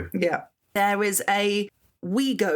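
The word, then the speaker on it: Ouigo: There is a we go. Is that how you say it? O U I G O. We go. That's how I'd say it.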